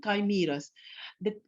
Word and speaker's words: chimera: Then the third superhumans are the chimeras. It's CHIMERA is pronounced as chimera.